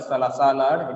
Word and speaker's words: salad: We read this actual pronunciation is not salad or salad, it is salad. It becomes sa because the first syllable sa is stressed.